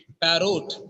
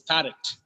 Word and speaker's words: parrot: about it parrot parrot it's not parrot sometimes people say parot no it's parrot parrot it's not call